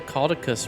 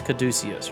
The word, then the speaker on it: caduceus: need five dark manes we can make the caudicus renee which is actually really cool or actually that's caduceus right that's how that's pronounced that's the little uh